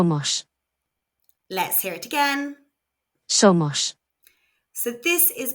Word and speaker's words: somos: Somos. So this is pronounced so.